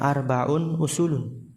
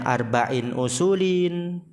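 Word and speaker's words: أربعٌ أصولٌ: Nah lihat tuh bacanya arbaun usulun. Ada yang nulisnya arbain usulin. Nah, ada yang nulisnya arbau usulin. Yang benar tanwin marfu semua tuh arbaun usul usul.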